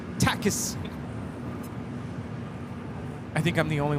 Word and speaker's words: Takis: She calls them tacis. And it's just so weird cuz you're like yelling at the screen like that's not how you say it. Takis.